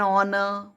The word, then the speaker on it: honor: Exceptions are before a word beginning with H but it is silent. An honor, an hour, an honest man. Here in these words, H is silent.